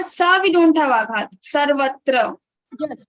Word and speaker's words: सर्वत्र: Okay, तो सर्वत्र में स पर आघात आएगा नहीं आएगा? सर्वत्र में वा पे आघात आएगा, वा के बाद त्र है. तो व के बाद त्र है तो व के ऊपर आएगा र में आघात आएगा, लेकिन स के ऊपर आघात नहीं आएगा क्योंकि स के बाद र है.